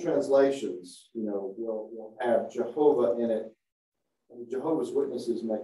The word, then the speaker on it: Jehovah: an a here uh with the Y pronounced as a j as the Germans would do and the w pronounces a V sound as it sometimes is Jehovah some of the old